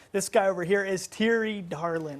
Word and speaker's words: Thierry Darlan: guy over here is T Darlin I said that right right T you say that right we're a lot of